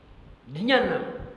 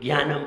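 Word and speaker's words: ज्ञानम्: आप कभी विद्यासागर महाराज जी को सुनिए, जब वे ज्ञान शब्द बोलेंगे तो कैसे बोलते हैं, जियानम, बिल्कुल सही बोलते हैं। कर्नाटक के पढ़े, मध्य प्रदेश के थोड़े हैं जो ज्ञानम बोलेंगे।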